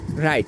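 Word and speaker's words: wrong: যদি এইচ অথবা আর হয় তখন ডব্লিউ এর উচ্চারণ হয় না যেমন আমরা প্রথম রুলসটাই দেখি প্রথম এক্সাম্পলটা দেখি right W আর আই টি E right W এর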